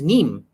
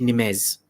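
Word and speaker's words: Nîmes: for supplying a city i think it was neem or what we call an english nimes but in french it's called neem with water and over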